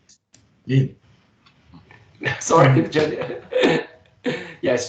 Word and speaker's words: Lin: That is, allow me to correct that. Tse-min Lee is actually his name is Shuangmu Lin, as Lin, yes, to be more appropriate pronounced to be Lin.